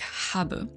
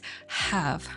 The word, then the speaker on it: have: on first of all it's not pronounced like Hab it's not Hab it's have nothing else while have can me